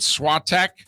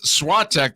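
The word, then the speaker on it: Świątek: top seeded swat tech is that how we're pronouncing your name that's how you and i thought we were elongated it during this tournament i elongated it the last three letters are t-e-k how do you elongate the the a.i they're kind of stretching out the two vowels together is what i've been hearing all right i'm not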